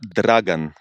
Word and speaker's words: Dragan: No, it's Dragan, like R. Dragan.